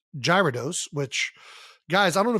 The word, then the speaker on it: Gyarados: um this I mean it's got a gy I think unless we're going like Greek urados uh apparently it's pronounced Gyarados which I've never seen a gy go gear but you know whatever and I guess we